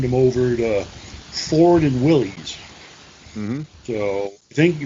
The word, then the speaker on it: Willys: They were the Willys, and some people say it's pronounced Willis, but to me it looks like Willys, so let's go with Willys.